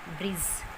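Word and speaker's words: bridge: Silent रहता है, और डी के बाद जब भी जी आता है तो जी से पहले जो डी है वो साइलेंट हो जाता है. For example Baij, ब्रिज, बजट.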